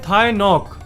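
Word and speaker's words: Thái Ngọc: जो कभी नहीं सोता थाय नॉक जी हां जी साइलेंट है साल 1976 में एक 2 साल का इंसान जिसका नाम है थाय नॉक उनको बहुत तेज बुखार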